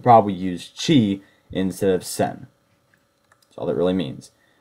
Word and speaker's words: 千: the concept of thousand the major readings for this kanji are sen and Chi that simple alone is read as sen N means thousand one